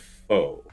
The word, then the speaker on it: faux: F A U X is said fo is a French borrowed word.